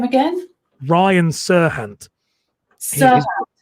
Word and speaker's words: Serhant: Serhant. Serhant. Name. Serhant.